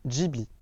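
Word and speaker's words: Ghibli: de nom il s'appelle jibi et d'ailleurs concernant la prononciation sachez que ce mot n'a rien de japonais il est en fait italien il signifie vent chaud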